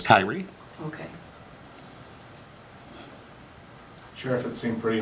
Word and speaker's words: Kierre: It's spelled Kierre, so I believe the correct pronunciation is Kierre.